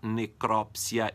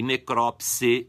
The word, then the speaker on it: necrópsia: Necrópsia, necropsia e necrópse com E no final.